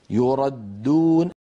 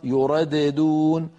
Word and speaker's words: يردون: مثال الخامس يردون الدال المشددة. لو نطقنا الدال الأولى مقلقلة لصارت يرددون، ولا يفعل هذا أبدا أحد أبدا، لا من القراء ولا من العرب.